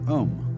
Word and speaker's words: om: That sound is used because if you spell it out a u m, it runs from the back of your throat to your lips and therefore it contains the whole range of the voice and for that reason